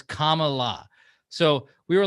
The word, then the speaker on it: Kamala: They said Kamala. So she's like, just say it like it's comma, like the letter comma and then add la. So it's Kamala.